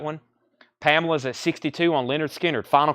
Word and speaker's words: Lynyrd Skynyrd: Lynyrd Skynyrd pronounced Leonard Skynyrd is at sixty dollars